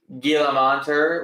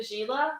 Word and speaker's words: Gila: how expensive it is I like when people from Ohio pronounce gilter with a hard G oh say Gila Gila monter that's okay